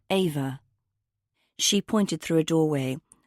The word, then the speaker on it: Eva: She pronounced Eva's name the German way. Ava.